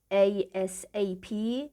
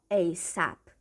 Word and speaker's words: ASAP: این عبارت 2 تا تلفظ داره. ASAP یا ASAP به معنی کلمه به کلمه میشه به محض اینکه ممکن بود و معادلش میشه در اولین فرصت.